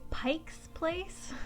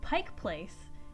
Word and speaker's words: Pike Place: Tell me why majority of tourists are say Pike's Place? Pike's Place. Apostrophe S, as in belonging to Pike. First off, Pike Place is the street. It doesn't belong to a fish.